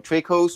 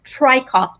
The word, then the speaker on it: Traicos: either either way so tracos or trachos that's right that's right yes well the actual correct pronunciation is tri-cost but americans say trade costs which i think sounds